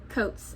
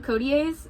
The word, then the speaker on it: Coates: Taneshi Coates. And I keep wanting to call him Codiers, but that's like the Cajun in me making up pronunciation that doesn't exist, and I hate that sometimes that I do that.